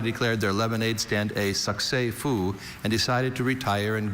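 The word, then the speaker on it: succès fou: Having raked in a whopping $12.46, Trey and Shauna declared their lemonade stand a succès-fou and decided to retire and go get ice cream.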